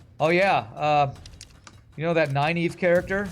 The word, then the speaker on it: Nynaeve: in Wheel of Time, there's a character named Nynaeve, and I always thought it was Nineveh.